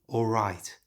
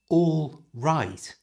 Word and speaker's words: alright: It's not all right. It's alright. It has a tiny w sound in it.